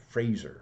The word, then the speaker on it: Fraser: there was our man Fraser rhymes with laser James Earle Fraser and